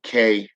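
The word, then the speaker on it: Kreyòl: Okay, Creole, as in Kreyol. Okay, Creole. Okay, that's how it's pronounced.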